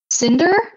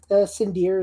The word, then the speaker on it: Sindir: Cinder, I believe. Is that correct? Sindir is the technical name, but Sindir. yeah, Okay.